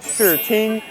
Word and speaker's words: Shi Ting: You can say it as Shi Ting, not as the English one, please.